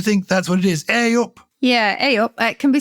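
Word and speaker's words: ayup: what it is aop I think it's aop oh you're right it's spelled a y u p Susie and DRS but do you think that's what it is aop yeah aop it can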